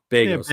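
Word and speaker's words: Begos: Is it Bagos? Is that what you said? Bagos, yeah.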